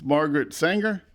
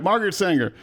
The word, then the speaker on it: Margaret Sanger: And I say her name wrong all the time. It's Margaret Sanger. Mm-hmm. Oh, I got it right that time. All right, Margaret Sanger.